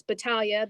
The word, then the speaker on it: Battaglia: pittsburgh pennsylvania and it's battalia the g is silent so a lot of